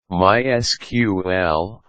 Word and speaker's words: MySQL: MySQL, pronounced MySQL, is a powerful open-source relational database management system that uses SQL.